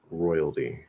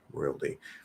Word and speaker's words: royalty: to see change uh royalty royalty i can imagine it being said with a weak d it doesn't seem too strange to me i i don't maybe